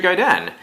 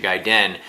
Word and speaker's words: Gaiden: the original and Ninja Gaiden um I as a kid always used to call it a Ninja Gaiden wasn't until I saw the wizard that I had seen anybody pronounce it ninja guy dead and even after that